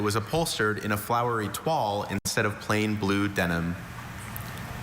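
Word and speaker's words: toile: find that it was upholstered in a flowery twal instead of plain blue denim. Twal. T-O-I-L-E. Twal. Correct. That's one I always mispronounce.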